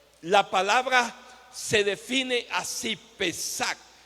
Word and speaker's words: Pesach: origen del hebreo, la palabra se define así, pesac E acento en la e s a c h.